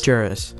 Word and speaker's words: Juris: Like Jaros or Juris. Juris. So just like the word Juris.